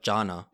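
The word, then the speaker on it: Gianna: The way like he would scream it though, he didn't pronounce the first a. It was like uh Janna.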